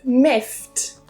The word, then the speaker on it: miffed: Number 5 is miffed. Miffed. Not miffed, not that ed, it's not id, but it's a t in this word.